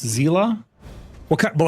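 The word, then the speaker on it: Seele: Her name is Seal, and after Honkai Star Rail character pronounced Zila.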